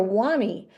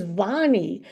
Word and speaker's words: Vonnie: and she called her wannie and so for like a whole semester I was calling this girl wannie and then wnie pulled me aside and said hey my name is Vonnie Eugenia can't pronounce her